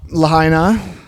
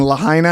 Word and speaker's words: Lahaina: Lahaina and Malibu, like of all the seaside communities that could have burnt down, I think it's pronounced Lahaini.